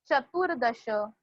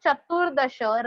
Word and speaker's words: चतुर्दश: While pronouncing Chaturdasha, R is pronounced after T and hence put Rafar on the D. You have to put Rafar on consonant D. Chaturdasha.